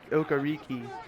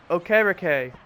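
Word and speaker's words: Okereke: how you say it I used to say okariki but from what I've heard that's not how you say it see okay Ricky this still doesn't sound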